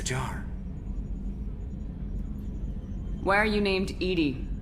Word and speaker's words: EDI: airlock is a jar why are you named Edie Edie is the phonetic pronunciation of Ed that is an acronym for